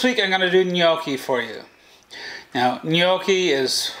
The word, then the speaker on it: gnocchi: red so this week i'm going to do gnocchi for you now gnocchi is one of those sort of little odd words it's spelled g-n-o-c-c-h-i it's actually an italian word and